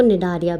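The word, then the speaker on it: Cnidaria: Coelenterata को निडारिया भी कहा जाता है। आप ध्यान से सुनो, सी साइलेंट होता है, ठीक है।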